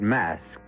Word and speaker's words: masque: The word mask, you should know, is spelled M-A-S-Q-U-E and means masquerade.